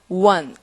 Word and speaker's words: one: 발음을 정확하게 해주셔야겠고 자 원웨이 티켓이라는 말에 이거 스펠링으로는 오라고 되어 있지만 발음으로 할 때 우어라는 입술이 W 모양으로 쪼그라드는 자 소리가 one 이런다는 거죠.